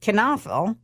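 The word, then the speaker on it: Knoefel: look them up it's their last name is not spelled the way it is said and that's k n o e f e l I had to put kenaf in parenthesis so you'd know how to say it yeah in Willoughby uh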